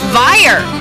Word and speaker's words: Veyer: i'm talking to david veyer which rhymes with fire and he is the